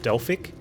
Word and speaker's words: Delphiq: Hey, I got into I got access to testing for I think it's supposed to be pronounced Delphic, but it's spelled Delphiq, DLPHYQ.